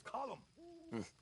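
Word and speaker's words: Colm: not you as well it's not Co C it's column in Ireland we say colum well uh he likes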